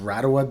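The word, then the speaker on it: Rarawa: Beach is your favorite yeah rwa Beach it's pronounced radawa Beach go look at that and great exhibition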